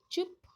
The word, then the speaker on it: चुप: तो ये जो है आपका छोटा ऊ का उच्चारण है चुप, और ये जो चूस है ये बड़ा ऊ का उच्चारण है।